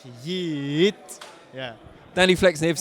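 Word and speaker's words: Yiğit: Yeah, it's like if you really, really want to pronounce it the Turkish way, it's Yigit, but Yigit is enough. Tell me the Turkish way again. Yigit. It's Yigit. yeah, you don't say the G.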